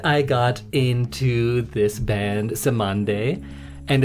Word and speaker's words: Cymande: Uh, but then I got into this band, Samande, and it's spelled C Y M A N D E and it's the calypso word for dove.